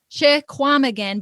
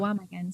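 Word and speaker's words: Chequamegon: Chewamegan, but it's Chewa. You don't pronounce the Q. Yep. Chewamegan.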